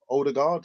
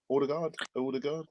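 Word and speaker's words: Ødegaard: player called um martin older guard i'm not even sure is that the right pronunciation james older guard no order guard as far as i'm aware it's a odor guard as um listeners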